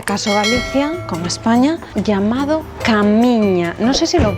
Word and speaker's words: Caminha: Galicia, con España, llamado Camiña. No sé si lo pronuncio bien, eh, porque la a, la H entiendo que es como la ñ eh para nosotros. Sí, sí, sí.